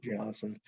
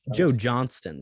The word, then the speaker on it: Johnston: Joe Johnston. Sorry, yeah, said his name wrong.